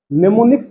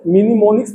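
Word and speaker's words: mnemonics: अब दूसरा अप्रोच देख लेते हैं, नेमोनिक्स बेस्ड अप्रोच। यहाँ पे इसको मिनिमोनिक्स नहीं पढ़ेंगे हम लोग, क्योंकि एम साइलेंट है, तो इसका ध्यान रखना पड़ेगा आप लोग को।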